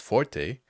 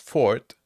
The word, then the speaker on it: Forte: it should be pronounced Forte and I would agree with you but I owe the creator of this game Luke crane explicitly said that it was pronounced Ford and that it came from French and can you imagine